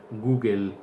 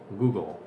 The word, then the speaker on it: Google: Many people in Spain, or most people in Spain, say Google, Google. That is incorrect. Eso es incorrecto. The correct pronunciation is Google, Google.